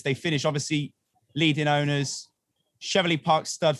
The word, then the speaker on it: Cheveley: Obviously, leading owners, Cheveley Park stud, 3 first, 2 seconds. Cheveley? Who was Cheveley?